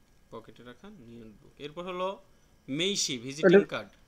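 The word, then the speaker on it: 名刺: diary হ্যাঁ notebook পকেটে রাখা নিয়োব এরপর হলো মেইশি ভিজিটিং কার্ড উচ্চারণটা একটু বলবেন এটা হচ্ছে তেঁচো উচ্চারণটা তেচ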